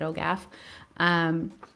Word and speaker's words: OGAF: I pronounce it OGAF.